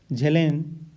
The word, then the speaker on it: Zahlen: Pronunciation इसका होगा झेलेन।